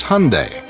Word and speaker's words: Hyundai: during the Super Bowl it's Hyundai like Sunday we hear Hyundai Hyundai